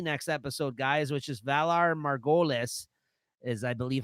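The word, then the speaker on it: Valar Morghulis: the season finale next episode, guys, which is Valar Margolis, is I believe how you pronounce Say it it. one more time. Yeah, that's what they say in the episode. Valar Margolis.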